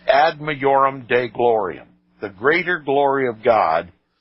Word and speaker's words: ad majorem Dei gloriam: In Latin it is pronounced ad majorem Dei gloriam, the greater glory of God, by such undefined